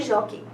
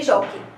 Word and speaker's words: jockey: Nós temos que e jó, então são só duas sílabas. A sílaba tônica é a penúltima, então é uma paroxítona, né? Terminada em ditongo aberto, que é o ei, né?